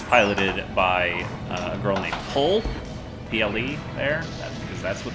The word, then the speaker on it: Ple: It's piloted by a girl named Pole, P-L-E there, because that's what that is pronounced.